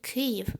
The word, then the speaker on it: Kyiv: than grateful if you switched to cave with ukrainian spain and pronunciation ukraine without the article